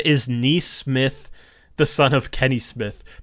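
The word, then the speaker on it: Nesmith: Joel said, "Is Neesmith the son of Kenny Smith?" That's actually how you say his last name is Neesmith.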